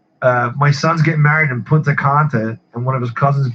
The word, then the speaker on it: Punta Cana: It's Punta Cana, I believe, if I'm not. You're right, Punta Cana.